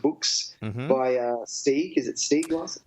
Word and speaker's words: Stieg Larsson: Is it Stieg Larsson? Stieg Larsson? Is that how you pronounce it?